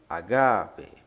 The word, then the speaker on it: agape: Mas, como estamos estudando o grego koiné, bem como a certificação gramatical que neles contém, há o acento agudo no A, então se pronuncia agape, agape.